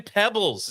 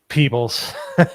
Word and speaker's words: Peebles: in the Bahamas studying snails with Mario Van Pebbles. Is that how you say his name? Peebles.